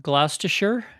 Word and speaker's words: Gloucestershire: Well, here's the part I'm going to pronounce wrong. You're from Gloucestershire?